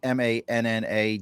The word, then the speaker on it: Manna: You can find Manna, and it's Manna, Dave Rice, and Peter Quoy.